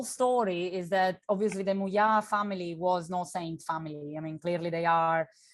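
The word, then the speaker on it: Muià: Moya.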